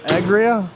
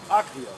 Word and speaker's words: Agria: How do you pronounce it? Uh, that's that's uh Agria. Agria. Yeah, German company. Agria.